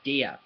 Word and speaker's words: der: say that de de it's spelled like dur looks like dur but um it's pronounced de okay so if you see the d r then it's de uh then that's considered